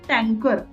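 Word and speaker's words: タンカー: उसके बाद में है टैंकर, तो आप बताओ टैंकर का क्या होगा प्रोनाउंसिएशन, ई आर यहाँ पे आया है, ई आर, तो क्या होता है, टंका, टंका, ठीक है ना।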